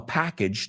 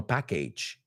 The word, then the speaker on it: package: Y vamos a pronunciar esa palabra porque ese age no es age, es age, como puente. There's a package under the bridge. Age. There's a package under the bridge. No package.